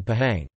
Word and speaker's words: Pahang: words such as al-quran H is pronounced clearly between like vowels as in Pahang elsewhere it is a